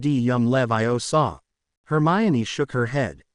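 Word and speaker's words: Leviosa: Wing a r yum levio saw. Hermione shook her head. It looks like a lot of these words are from Latin. That would make it levio saw.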